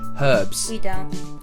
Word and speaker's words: herbs: what's that herbs herbs we pronounce the H herbs rocket delicious in salads